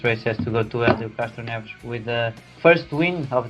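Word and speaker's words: Hélio Castroneves: Just tell us, how do you pronounce his name completely right? Helio Castroneves.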